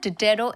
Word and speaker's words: Diderot: is no proper pronunciation to it you can pronounce it the way you want however dero effect is what you call it dero effect